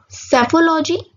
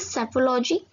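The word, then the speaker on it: psephology: सेफोलॉजी, या इट इज सेफोलॉजी, पी यहाँ पर साइलेंट है।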